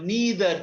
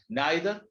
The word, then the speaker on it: neither: i condemn thee or neither do i condemn thee both pronunciations are there neither or neither neither do i condemn